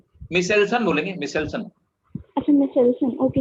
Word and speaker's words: Meselson: मिशेल्सन बोलेंगे, मिशेल्सन। अच्छा मिशेल्सन, ओके हाँ, मिशेल्सन। मिशेल्सन एंड स्टॉल, सर वो स्पेलिंग के लिखिए MESEL।